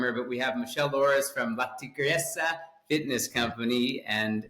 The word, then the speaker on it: Tores: how it should be said with my terrible pronunciation. You did a great job. My name is Michelle Loris and my company is Latigresa Fitness Co.